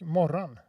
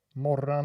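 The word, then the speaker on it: Mårran: Yeah, like Morran. But I'm Swedish, so Morran is how we pronounce the Finnish character from the Moomin series, Morran. And then you type Moran. That's like moron, but with an A instead. Moran. Yeah, it's an O in Swedish, according to you.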